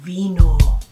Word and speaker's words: vino: And today we are celebrating vino. It is the harvest of the grapes that we make one of our favorite beverages. Vino, it rhymes with Latino.